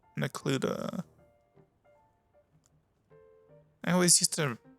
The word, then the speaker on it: Necluda: hen Villages these are with an area called necluda I always used to mispronounce that word as Nua for some reason um within that cluster you'll